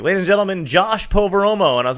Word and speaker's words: Poveromo: It's Poveromo, yeah.